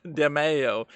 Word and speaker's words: Demeo: Might be DeMeo. I don't I've know. heard of it, Demeo. but I don't know I what thought it it was is. demo. It's DeMayo. Is that DEMEO. how to spell it?